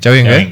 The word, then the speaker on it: Chawinga: CHAWINGA, yeah. Okay. It's pronounced CHAWINGA.